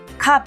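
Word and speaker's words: 값: 식으로 소리 나는지 봅시다 갑 가수로 발음하지 않죠 갑으로 발음됩니다 목도 못 아니고 목으로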